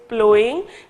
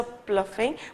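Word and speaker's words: ploughing: तो प्लोइंग, please ये जो है करेक्शन करें इसको, this word is pronounce as प्लोइंग, ठीक है, जैसे कि in previous lecture I may have pronounced as अ प्लफिंग बट इट इज नॉट, इट इज प्लोइंग, ठीक है।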